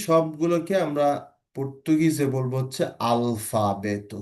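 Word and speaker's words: alfabeto: ত আলফাবেত। আলফাবেত। বলছি না আমি কিন্তু। হ্যা খেয়াল করবেন। টি হলে সেটাও ট হতো। এখানে কিন্তু ট বলা হচ্ছে না।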